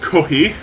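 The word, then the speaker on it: コーヒー: like the reason why coffee in Japanese is pronounced kohi is because they didn't have an F sound in their language until after coffee was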